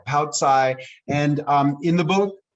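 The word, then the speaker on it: paocai: them with a meal i spell it p-a-o and then i use a hyphen c-a-i poutsai and um in the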